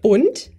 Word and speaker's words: und: Und. Und. Und. It's a, the U is very short. It's very in front of your mouth.